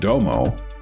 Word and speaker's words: Dome: In 1975, Minoru Hayashi began Domo Company as a bespoke sports car manufacturer to help fund Hayashi's racing programs. Spelled like dome, but pronounced like Domo, one of Domo's first